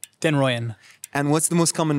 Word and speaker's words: den Rooijen: how do you pronounce your family name? Denroyan.